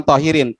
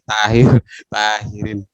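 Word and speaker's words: ṭāhirīn: Sampean bukan tohirin, tahirin sampean. Baca tarkik sampean bukan tohir tapi tahirin.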